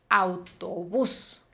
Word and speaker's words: autobús: Entonces, por ejemplo, autobús, La mayor fuerza de voz está recayendo en la última sílaba.